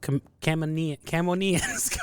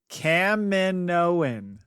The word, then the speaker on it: Kaminoan: The Return of Kamino and Kamino Lost. Lots of Caminos. Mm-hmm. We won't, suffice to say, we won't have to have the conundrum of Camonians going on much longer.